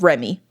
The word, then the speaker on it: Remy: for Remos but yes she was called Remy like the rat from Ratatouille okay that makes sense